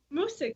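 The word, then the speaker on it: Moosic: Musk.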